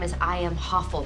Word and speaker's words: Hoffel: name is I am hoffel right I run this Hospital while her name rhymes with awful awful Isn't unsympathetic as